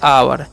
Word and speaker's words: our: तो next rule है ओ यू, तो इसे उच्चारण आव करना है, क्या करना है, आव। जैसे में कहाँ है ओ यू, तो इसे हम पढ़ते हैं आवर। ओ यू का आव आर से रहता हो गया आवर।